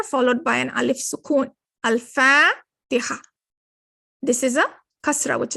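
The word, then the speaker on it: الفاتحة: This is a Huruf Kamariya because you are pronouncing it. You're pronouncing the al here, Al-Fatiha.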